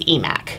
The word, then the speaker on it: EMACC: to keep them separate I like to use eMac yeah it's just more fun ya know and it rhymes with our hashtag that we've used for two years which is eMac is back Oh why were you